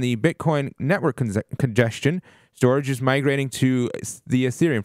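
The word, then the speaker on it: Storj: just point this out storage is St o RJ got it so I want to just the way you spell it is very strange Storage storage yeah so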